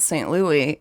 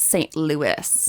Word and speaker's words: St. Louis: Neely just in the middle of their conversation that it's not St. Louis, it's St. Louis.